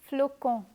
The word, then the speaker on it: flocon: As per the rules of pronunciation, when the letter O follows the letter C, we pronounce the latter as K. Hence, this first word is pronounced as flocon.